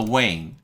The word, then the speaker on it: weighing: 이 weigh가 아시다시피 GH가 묵음인데 앞에 있는 이 발음을 길게 늘려주는 역할을 하죠. 그래서 weighing.